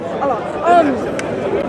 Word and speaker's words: Allah: Allah. How do you, how can we explain like these humans sort of like, because Allah created, the plants and the trees, stuff that isn't really explainable by free will.